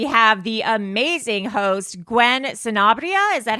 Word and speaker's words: Sanabria: and today we have the amazing host Gwen sarria is that how you pronounce it sonara yes that's it oh my god I've finally